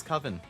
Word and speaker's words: coven: is an agreement it is coven you are right master I don't know where I got kovan from then ah Savvy you're